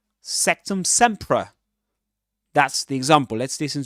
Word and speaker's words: Sectumsempra: Summ sea with awah again. Sectum sea. Sectum sea.